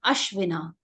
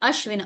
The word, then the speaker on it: अश्विना: Next जो word है वो है अश्विना। इसकी प्रोनाउंसिएशन आप समझ लीजिए, अश्विना, अश्विनी होता है, ठीक है, ये अश्विना है।